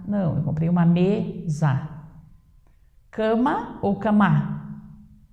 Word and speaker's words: cama: Cama ou camá? Coloque em cima da cama ou da camá? Da cama. Então, cama é mais forte.